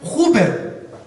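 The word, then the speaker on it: ὑπέρ: Y esta palabra encarecidamente es otra palabra griega que se pronuncia huper. Es como super, pero con J.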